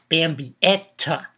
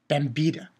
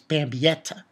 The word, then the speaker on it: Bambietta: Yeah, Bambietta. That's how you say her name. Not Bambietta. It's Bambietta.